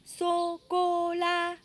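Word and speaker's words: sô cô la: Tout neutre, chocolat. Le S avec le O, avec le chapeau, ça fait so, comme un seau. CO avec chapeau, ça fait co. Et LA, la, chocolat, pour chocolat.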